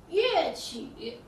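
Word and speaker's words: 乐曲: 乐曲，乐是一个多音字，它也念乐，快乐的乐，在这里它念乐，乐曲。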